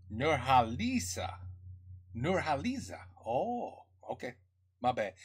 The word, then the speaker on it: Siti Nurhaliza: We have Siti Nurhaliza.